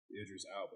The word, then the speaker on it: Idris Elba: Idris Elba. That's how you pronounce it.